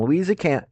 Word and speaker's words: Louisa: In Louisa County, there we go, I'll pronounce something correctly, residents recently halted an Amazon data center proposal.